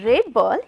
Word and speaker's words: rebel: to answer this query when I pronounce it as a red ball it works as a noun and the title of our poem it is about the person so it is a noun and so we